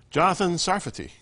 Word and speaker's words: Jonathan Sarfati: Jonathan Sarfati. That's how you pronounce it.